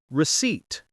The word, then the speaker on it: receipt: Trolley or in American English, cart, basket, checkout, receipt. The P is silent.